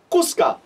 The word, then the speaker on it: Quska: Now, remember, the actual word kus is glottalized, but since this is a multi-syllable word, we aren't saying it as strongly, so I've actually taken it out here.